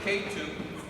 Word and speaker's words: Ketu: It's K2, and it's spelled K-E-T-U.